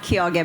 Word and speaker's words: Quiogue: It's pronounced Quiogue, by the way, but it's okay, no one gets it right.